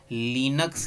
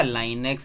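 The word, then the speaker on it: Linux: अगला operating system है हमारा लिनक्स या लाइनेक्स। इसको भाई कोई कोई लिनक्स प्रोनाउंस करता है, कोई लाइनेक्स प्रोनाउंस करता है, खैर आपकी मर्जी, जो कर लीजिएगा।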